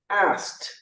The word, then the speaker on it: asked: So let's practice that and you can pronounce at home. Everyone, wash, T, washed. Ask, T, asked.